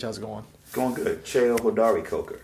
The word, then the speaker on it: Cheo Hodari Coker: Cheo Hodari Coker. Cheo Hodari Coker. Yeah, Cheo. Yeah, you got to pronounce it. Pronunciation. Cheo Hodari Coker.